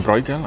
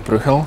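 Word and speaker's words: Bruegel: Na przykład mówią Brugel, a nie ma Brugla, jest Bruchel.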